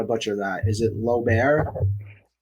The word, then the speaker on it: Loebair: Is it Lober? Yes. It's hard to pronounce.